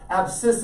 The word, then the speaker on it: abscissa: referred to as the abscissa now there's a silent c it's the sc combining so it's spelled abscissa okay but here in the month of february we don't want to encourage anything so abscissa is how it's pronounced